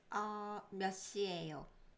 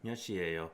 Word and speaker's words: 몇 시예요: I know I have a T right here, but then it's kind of like a very soft T.